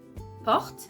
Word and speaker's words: porte: But if you take a look at porte, porte, that's the door. Okay, porte. Here, you have 2 other sounds. Porte. You have P, O, R, T. Okay, porte. So here, again, because the O is not the last sound of the syllable, we're going to open it to welcome the other sounds. That's the reason why you're going to say porte. Okay, so to just put